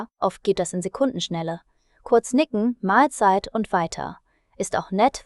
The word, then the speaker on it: Mahlzeit: Viele sagen es locker Mahlzeit, also 2 Teile wie Mahl und Zeit.